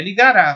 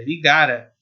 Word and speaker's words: ligara: Não é ligará, porque não tem o acento aqui no A. É ligara. É assim que se pronuncia.